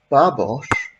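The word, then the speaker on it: Babos: case for raising this babash spelt like that and pronounced like i just said it is a hungarian name so she still i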